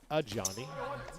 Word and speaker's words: Ajani: That is not your typical spelling of Johnny either. And it's Ajani.